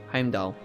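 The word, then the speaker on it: Heimdallr: Don't say the R and you say it right. Heimdall.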